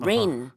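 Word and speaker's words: reign: g n 이렇게 쓰고 발음은 우리 내리는 비처럼 rain 이렇게 발음을 합니다 그래서 레이닝 챔피언이라는 것은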